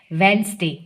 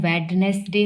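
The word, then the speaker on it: Wednesday: NESDAY, वेंसडे। वैसे तो इसका उच्चारण वेडनेसडे होता है, लेकिन इसको शॉर्ट फॉर्म में वेंसडे बोलते हैं।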